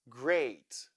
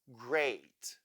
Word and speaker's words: great: Great. Here we have EA, which sounds A. Great.